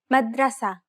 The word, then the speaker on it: madrasa: are no long syllables stress the third to last syllable repeat after petion madrasa madrasa is the third